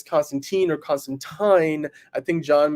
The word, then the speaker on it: Constantine: you please please uh call it say it the way it's meant to be said Constantine um and with that